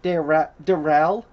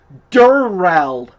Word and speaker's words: Durrell: but they pronounce it Darrell. That's what I thought. Then I looked him up on Wikipedia or IMDb. His name is pronounced Durrell.